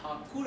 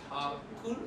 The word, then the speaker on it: Thakur: The British called Thakur as Tagore because they couldn't pronounce Tha. So they pronounced Thakur as Tagore.